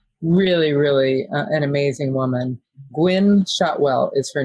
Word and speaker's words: Gwynne Shotwell: together she is really really an amazing woman gwynne shotwell is her name it's spelled g-w-i-n-n-e shotwell and uh if you don't